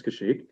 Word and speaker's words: Kashyyyk: I don't really know how to pronounce that. Kashyyyk. I guess it's Kashyyyk.